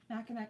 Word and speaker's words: Mackinac: Mackinac mitts.